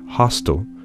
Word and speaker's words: hostile: on the other hand in the word hostile the first syllable is louder than the second so in hotel the